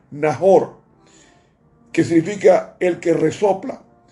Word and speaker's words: Nacor: años y engendró a Nacor. En hebreo se pronuncia Nahor, que significa el que resopla.